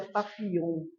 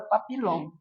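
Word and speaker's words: Papillon: aqui em Palmeira que essa palavra francesa embora se escreva Papilon a pronúncia é pap mas como quem fundou a banda não sabia disso né falava a banda Papilon não tem nada a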